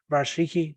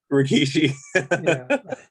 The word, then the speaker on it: Rikishi: man would be um i probably pronounced it wrong rashiki the guy that literally had to put his ass in your face rikishi like i just couldn't